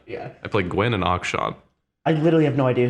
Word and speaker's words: Akshan: Akshan.